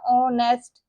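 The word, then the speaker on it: honest: एच जो है basically हमारे पास यहां पर साइलेंट है तो हम ओ से पढ़ेंगे ना ओनेस्ट अब जब ऑनेस्ट उर्दू में लिखेंगे तो अलिफ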